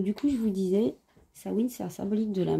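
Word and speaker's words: Samhain: la fête de sawin ça se dit sawin ou SN et ça s'écrit comme vous pouvez le voir ça s'écrit ça sa Meig mais on dit pas Sam m on dit SN ou sawin c'est comme au beau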